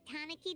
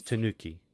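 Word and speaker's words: たぬき: when we chased that tanaki down this way good time it's Tanuki not Tanuki what's that weird pronunciation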